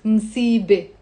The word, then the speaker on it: مصيبة: The word مصيبة on its own has a ت مربوطة in the end, which is silent. مصيبة.